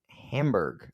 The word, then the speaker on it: Hamburg: 26th 2019 uh in Hamburg I want to say uh Hamburg Hamburg it's not hamburger it's Hamburg okay I'm sorry I